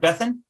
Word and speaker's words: Bethan: Is it Bethan? Yes. Bethan? Fantastic. So I think you both saw the call agenda. Basically, it's pretty straightforward. So Max, I think you have some questions to ask Bethan about her story and just basically have a chat.